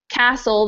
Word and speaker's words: castle: and as well as in Castle the t is silent and in comb the